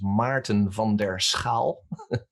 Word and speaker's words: Maarten van der Schaal: on linkedin but it's difficult to do that phonetically because it's my name is martin vonderskal but you i guess you will put it